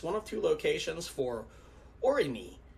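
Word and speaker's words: Aurigny: of two locations for orini that's the what i believe the french pronunciation for the company that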